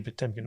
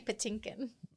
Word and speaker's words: Patinkin: you'd think that Mandy potemkin would be like kind of like over it over it exactly the way that you say his name is driving me crazy how do you say it Mandy Patinkin okay Mandy Patinkin um